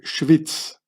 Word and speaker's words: Schwyz: And then later on, they also made the German name Schwyz. In German you say Schweiz, but in Swiss German you say Schwyz, which means Schwester der Isis, Schwyz.